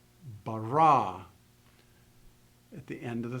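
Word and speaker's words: בָּרָא: So in this particular sentence, if I read it slowly, you would pronounce the inflection at the end of the first word, bereshit. The end of the second word, bara.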